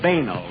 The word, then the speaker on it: banal: And we pronounced it banal, if you don't mind.